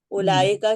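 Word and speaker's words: أولئك: Point number 5 ہے، جمع کی مختلف صورتوں میں ابتدائی حمزہ کے بعد جو واو ہے وہ تلفظ میں نہیں آتی، لیکن لکھی ضرور جاتی ہے. اولائکہ کی طرح یہ زائد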